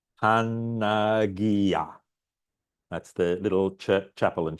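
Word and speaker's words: Παναγία: Pi, alpha, nu, alpha, gamma, India, alpha. Pronounced Panagia.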